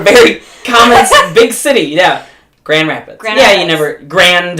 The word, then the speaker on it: Grand Rapids: Yeah, but you don't pronounce the D. It's Grand Rapids.